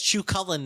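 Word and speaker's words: Cú Chulainn: it worse every single time his name is Chu cullin now I hope you like it they do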